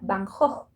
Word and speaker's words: van Gogh: no usaba su apellido que en holandés se pronuncia bahnhof vincent bajo una de